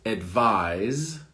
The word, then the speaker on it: advise: Advise, like a Z, advise. And then the next one is advice, an S sound. So advise, advice, advise, advice. So the endings are different. Z, S, advise, advice.